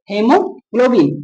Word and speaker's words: हीमोग्लोबिन: पढ़ा होगा ऐसे तो हीमोग्लोबिन ठीक है? यहां पे देखिए ए जो होता है साइलेंट हो जाता है और इ की उच्चारण निकलती है हीमोग्लोबिन।